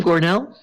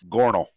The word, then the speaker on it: Gornal: How do you say your name, Gornell? Gornal, just Gornal. why is not as hard.